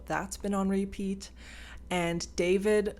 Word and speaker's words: D4VD: And David, spelled like D4VD, pronounced David.